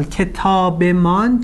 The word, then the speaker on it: کتابمان: For example, kitabeman changes to kitabemun.